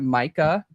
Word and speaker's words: Mica: into some Mica Miller, which is, am I pronouncing that right? Is it Mica?